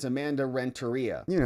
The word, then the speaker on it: Renteria: struck by the fact that the attorney general pronounced the name Rentaria in a peculiar fashion. That's not how you say her name. Like everybody knows her name. And she says like Amanda Rentaria.